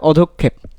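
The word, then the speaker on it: অধঃক্ষেপ: আচ্ছা এটা সঠিক উচ্চারণ হবে অধক্ষেপ, অধক্ষেপ, অধক্ষেপ, ঠিক আছে?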